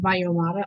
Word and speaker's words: Valloyomara: So it's pronounced Valloyomara.